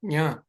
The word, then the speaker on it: ञ: तो च ज झ ञ इसको ज्ञ नहीं बोलना है जैसे हम हिंदी में बोलते हैं च ज्ञ है क्योंकि